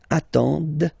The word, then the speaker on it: attendent: And the last one, same thing, classic ending for il, elle at the plural form, ENT, but then you don't pronounce them. Ils attendent, okay, so remember you get to pronounce this, the D at the end, okay.